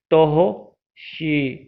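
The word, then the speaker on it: तोः षि: अब आप सोचते होंगे कि मैं तोहो क्यों बोल रहा हूँ। मैंने आपको बताया था कि अनुस्वार एवं स्वरों का उच्चारण हम जब करते हैं, अनुस्वार एवं विसर्ग का जब हम उच्चारण करते हैं तो वह स्वरों की सहायता से करते हैं। तो यहाँ पर स्वर क्या है, ओ है, तो विसर्ग का उच्चारण भी हम ओ की सहायता से करेंगे तो बोलते हैं हम तोहो। तोहो शी।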